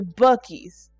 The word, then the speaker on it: Buc-ee's: But like Buc-ee's, okay, first of all, Buc-ee's spelled like it's not even like Buc-ee's how you normally sell it. It's Buc-ee's. It's like that. It's a Buc-ee's. Oh wait, actually, is it actually like that?